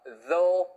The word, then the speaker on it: though: 발음이 도가 아니고요. though, 우예요. though, 우.